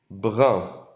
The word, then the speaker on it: brun: Pardon, il est brun. Il est brun. Il est brun. Sounds like the number one on the end. Un.